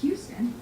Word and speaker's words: Huston: It's Jack Houston. Huston Houston spelled Huston.